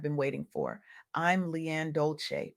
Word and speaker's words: Dolce: I'm Leanne Dolce, pronounced dolce, like sweet softness whispered in French, and